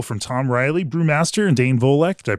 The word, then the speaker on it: Dane Volek: across the table from Tom Riley, brewmaster, and Dane Volek. Did I pronounce that right, Dane?